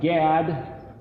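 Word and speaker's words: גד: the word spelled gimel dalet gimel dalet is pronounced GAD or God it happens to be the the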